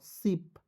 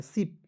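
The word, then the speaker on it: ship: के रूप में पी का होता है प सिप या बड़ी के रूप में भी कर सकते हैं सिप बस इसका उच्चारण जो है आपको जो है बड़ी ई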